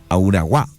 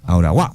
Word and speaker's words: Auraguá: Creo que sí, definitivamente, Gonzalo, lo estamos pronunciando mal. Auraguá, debe ser, Auraguá, porque hay una tilde. Hay una tilde en la A.